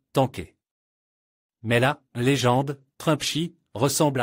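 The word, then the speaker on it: 坦克: Seulement, il le prononce comme tanké.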